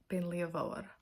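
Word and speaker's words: Beinn Liath Mhòr: So at the time when I mispronounced the name of that Monroe I was mad about it at the time and I'm still mad about it. So yes, it's just Ben Leavore and um Scorua.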